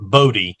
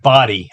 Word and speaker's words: Bodie: on the Outer Banks, and you talk to the locals, and they say, "No, you know that you are not from here if you call it Bodie. It's called Body Lighthouse."